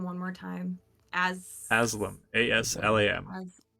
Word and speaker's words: Aslam: Aslam. A-S-L-A-M. I keep overcorrecting from Aslan to like some other name that's not right, so I'm all over the place with it.